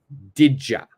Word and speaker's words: did you: Now, if we move over a little bit, I want to join the did you together. The did and you, we join together. So that becomes this word right here. Didja. Didja. So it's very interesting because we put a J sound. Did you? My pronunciation is didja. Didja. Okay, so did you? One more time. Did you? Don't say did you. Please say didja.